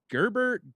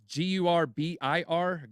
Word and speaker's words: Gurbir: Security Exchange Commission Director Gerber Grewal. Now, Ben, is that how you say his name? I know you say his name a lot. Wait, say it again. Who is it? It's Gurbir Grewal.